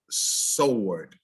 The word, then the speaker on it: sword: don't sound right like this word is sword not a sword i know the preacher would say well let the lord be your sword in your shield it's spelled with the w but the w loss is lost the sound throughout time in our language so it's his sword